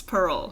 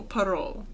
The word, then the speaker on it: parol: for Christmas Pearl yes parole so it's not like a parole officer although that's the closest but it's like a soft o parole yes anyways from there